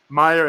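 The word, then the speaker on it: Meijer: We'd be like, Myers, I'm going to Kroger. It's like, no, it's Kroger. It's Meyer.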